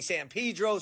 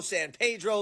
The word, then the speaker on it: San Pedro: So, in conclusion, I know my pronunciation is terrible and I know you have a certain way of pronouncing San Pedro, San Pedro, Los Felis, Los Feliz, and we haven't even